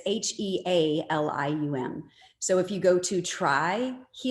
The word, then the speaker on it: Healium: Yeah, so helium is spelled like healing, but it's Healium.